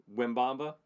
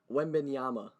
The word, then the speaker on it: Wembanyama: So we don't have to worry about pronouncing Wembamba. Wembanyama.